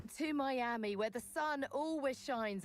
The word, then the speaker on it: Miami: Um, always pronounce Miami me army. No, no, no. We're just not going to do that. We're not going to do that. Ty. Okay. It's Miami.